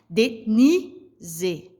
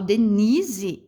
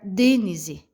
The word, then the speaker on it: Denise: Denise. Né? Então dá para a gente perceber que quando eu falo Denise, esse ni, ele se pronuncia mais forte.